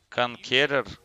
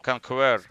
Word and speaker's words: Conqueror: Конкерер? Какой конкерер? Это Конквер. Конквер это будет правильно.